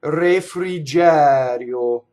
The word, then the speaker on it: refrigerio: Okay, so going to the word refrigerio is open E on the stress, closed E on the unstressed.